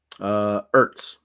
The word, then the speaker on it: Ertz: Ertz. Sans H, silent H on Ertz.